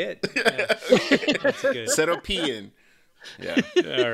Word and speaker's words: Seropian: That's, I didn't even know it was pronounced really. That's how you say it. Seropian.